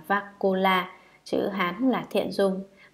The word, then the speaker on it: Vakula: Ngài Bakola, Ấn Độ đọc là Vakula, chữ Hán là Thiện Dung, ngài là bậc có thọ mệnh sống lâu đệ nhất.